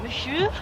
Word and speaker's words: monsieur: How do you pronounce it? Monsieur.